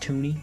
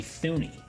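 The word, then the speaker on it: Thuney: his name is pronounced toony like it should be thune right sure toony sounds better though no no it does but it just pisses me off when i see th and it's toony it's like come on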